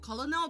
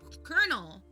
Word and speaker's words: colonel: Not colonal, but colonel.